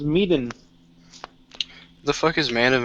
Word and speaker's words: Medan: What the fuck cares how it's pronounced? It's Medan.